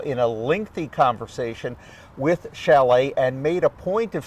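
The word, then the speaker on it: Šalé: day one yep uh Chalet by the way spelled sale s-a-l-e but that's how it's pronounced he's from the Czech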